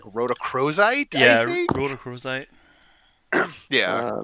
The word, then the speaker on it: rhodochrosite: I cannot pronounce that last one. It's like rhodochrosite.